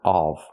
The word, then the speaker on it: of: say the topic of off the word is pronounced of we a closed relaxed sound of the topic of example this is the statue of liberty not the statue of liberty not the open sound of but of the close sound.